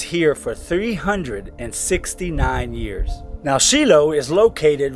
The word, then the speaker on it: Shiloh: Welcome to Shiloh, or many Americans pronounce it Shiloh. Here in Israel it's pronounced Shiloh.